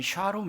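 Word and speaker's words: שלום: 평 아니라고 번역된이 본문은음 구약에서는 샬롬입니다 샬롬 정확한 발음은 샤롬 있니다 샤롬 우리가 말하는 샬롬을 말합니다 이게 26번이나 나와요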